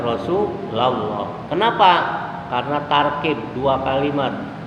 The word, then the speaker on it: Rasulullah: Kalau bacanya ada ya, la, ya Rasulullah. Makanya kalau kita baca sholawat, apa itu iku mahalul qiyam dan lain-lain, hati-hati, jangan salah, jangan ya Rasulullah. Yang benar ya Rasulullah.